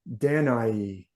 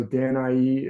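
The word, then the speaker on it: Danaë: daughter the beautiful danai it's pronounced different ways you see different Scholars tell you to pronounce it it different ways it does have these two dots over the E so sometimes that means that e is pronounced as a separate vowel from the a so danai is one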